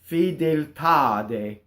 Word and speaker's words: fedeltà: To show the truncation, there's an accent, right? So now the accent of the word is on the last syllable. So now the E's are in the unstressed position. They are closed, not open, right? So there's another mistake I hear. Fedeltà, right? Fedeltà. Going into the last A.